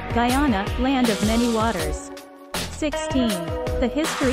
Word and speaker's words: Guyana: was changed to Guyana and began to be pronounced Guyana land of many Waters 16 the history of